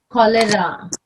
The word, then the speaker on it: cholera: celiac or cirrhosis yeah if there's a CH it's again pronounced as king like cholera on a stroll yeah